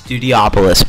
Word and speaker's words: Studiopolis: jesus press garden studiopolis it's studiopolis by the way and if you're saying hydros hydro city then you're wrong because you're pronounced against studiopolis so it should be